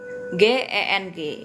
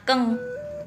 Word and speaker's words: geng: Nah, lalu ada lagi nih G E N G itu juga dibacanya keng ya, bukan geng ya bacanya ya. Nah, di Mandarin ini G itu bacanya K begitu.